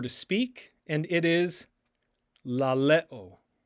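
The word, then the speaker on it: λαλέω: The next word means to say or to speak, and it is laleo, laleo, laleo.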